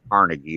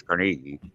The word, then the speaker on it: Carnegie: from the first grade is a professor at carnegie university and that's how you pronounce it it's not carnegie it's carnegie in pittsburgh he lives in beaver falls so